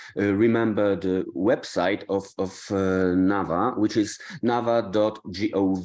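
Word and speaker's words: NAWA: academic exchange the Nava W would be pronounced like V in in our case Nava is important for two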